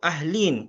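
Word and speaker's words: أهلين: Nah, tapi cara bacanya beda. Roaitu ahlin. Kalau mussanna ahlain. Nah, ini ahlin dibaca kasrah.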